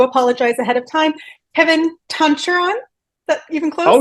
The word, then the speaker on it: Tancharoen: Well, it's just to pronounce it correctly in the Thai way is very different, but here in the U.S. it's just pretty much Tancharoen.